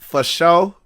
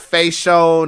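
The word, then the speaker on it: fasho: Twitter at Sugar Dunkerton f-a-s-h-o that's pronounced for show okay not facial not for the it's for sure there's a thing behind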